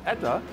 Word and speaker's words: Etta: who is behind uh Maple Nash and now ETA yep and I said it right you got